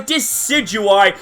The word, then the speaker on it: Decidueye: and wacky name because you remember deciduous trees and this thing is a grass type. So, it's a play on words. Deciduous and I. So, Deidui is how I'm going to pronounce this Pokemon.